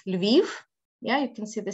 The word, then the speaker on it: Lviv: So it's not Kiev, it's Kyiv. It's not Lvov, it's Lviv.